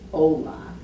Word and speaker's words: hola: So it's hola. Hola. The H is silent. It's hola.